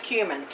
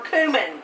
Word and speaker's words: cumin: a half teaspoons of cumin or cumin people pronounce it differently this just kicks it